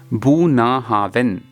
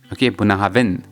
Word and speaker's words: Bunnahabhain: The idyllic location of Bunnahabhain, pronounced Bunnahabhain, Bunnahabhain, and meaning mouth of the river in Gaelic,